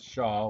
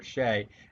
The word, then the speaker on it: SHA: Now you might hear it pronounced as Shaw or Shay, and the primary advantage of an SHA over older hashing algorithms is that its resistance to collisions.